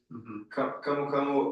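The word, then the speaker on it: camu camu: in Brazil your native country which is called kamukamu am I pronouncing that right yes kamukamu or there's a scientific name for kamuk as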